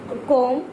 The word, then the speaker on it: comb: And just see, just notice कॉम, comb, c o c o m b, comb, comb, not b, comb, thumb, bomb.